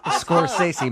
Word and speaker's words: Scorsese: Scorsese? It's Scorsese, Martin Scorsese.